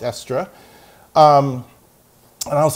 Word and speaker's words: Estre: this guy named Esther or actually everyone then pronounced it estray which I think is wrong it's extra um and I was like who he's like